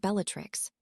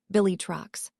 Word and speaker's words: Bellatrix: Well, then how do you pronounce it? Harry turned to glance at Sirius while Bellatrix's voice got all husky and sexy. It's pronounced Billy Trucks.